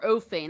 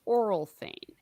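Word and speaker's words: Orl Fane: I've been calling him Oral Fane. And apparently that caused controversy. That's how I say his name because it's really hard to say ORL together.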